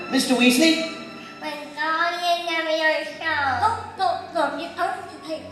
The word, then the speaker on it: Leviosa: And again, Wingardium Leviosa. Mr. Weasley? Wingardium Leviosa. Oh, look, you only take someone higher. Besides, you're saying it wrong. It's Leviosa, not Leviosa.